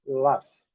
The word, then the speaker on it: laugh: L-A-F, laugh. GH com som de F.